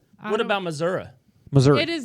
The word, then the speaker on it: Missouri: right on this Illinois it's Missouri man we're doing a podcast it's Missouri Missouri Missouri Missouri not Missoura are you from here's no a on theend of it I'm born here the